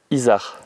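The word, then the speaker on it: isard: Isa.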